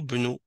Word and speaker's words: ابن: Donc, c'est juste parce que le hamzatul wasl, tu vas pas le prononcer. Tu vas prononcer le bas directement. Ou al-waladu bnu.